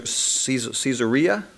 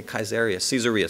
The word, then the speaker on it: Caesarea: this included building caesar caesarea that's how you pronounce it in english i want to say kaiser caesarea caesarea to the north